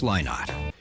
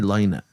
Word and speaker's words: Lynott: It's Lynott. Don't ever say Lynott. Phil Lynott, lad. You're so wrong.